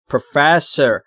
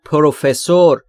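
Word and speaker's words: professor: تلفظشو دقت کنید بچهها استرس روی اف پروسر پروفسر خیلیا میگن پروفسور این اشتباهه بچه‌ها پروفسر یعنی استاد یونی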